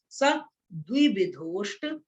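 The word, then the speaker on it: सद्विविधोऽष्टचतुर्भेदः: सद्विविधोष्ट, द्वि दबी नहीं, कुछ लोग सा दो कर देते हैं, ऐसे नहीं बोलना है, द्वि बोलना है, द्वि।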